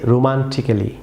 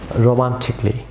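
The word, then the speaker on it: romantically: Viewers পরের যে লেটারটি আছে সেটি হচ্ছে অনেকে আমরা এটিকে রোমান্টিক্যালি প্রনাউন্স করে থাকি, রং প্রনাউন্সিয়েশন। ভিউয়ার্স এই এখানে সাইলেন্ট থাকবে, ভিউয়ার্স এটি সাউন্ড হবে না, তাহলে এটি সঠিক প্রনাউন্সিয়েশন হবে রোমান্টিকলি।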